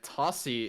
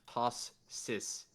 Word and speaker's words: Tossi: I've just been informed that uh, Tossi is actually pronounced tossis.